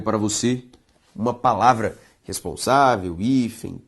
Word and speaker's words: hífen: A palavra hífen, quando separada, veja só, hífen. A sílaba tônica de hífen, i. E hífen, pessoal, termina em com N. Não é em com N. Tudo bem? Por isso que hífen deve ser acentuado.